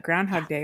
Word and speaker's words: Groundhog Day: We're recording on the 3rd, so it's already passed, but Groundhog Day was yesterday. I Yeah. said it right. There's no S in it.